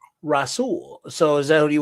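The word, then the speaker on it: Rahsul: Rashul. Rash Faison. All right. So he's uh number 372 on here. Rasool. The H is the H is silent. Silent. My bad. Rasool.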